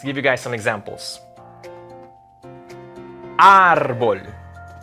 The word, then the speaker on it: árbol: Árbol. You see that accent mark on top of the A? That'll be árbol. It's not on the O, it's on the A. So it's not árbol, it's árbol.